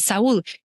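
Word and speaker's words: Saúl: So I said, his name is Saul, but we pronounce it Saul in Spanish. I said, Saul, you have to write this book.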